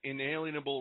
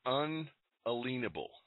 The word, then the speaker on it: unalienable: constitution says we have inalienable rights no you're pronouncing it wrong um you're you're not getting it it's unalienable now there are two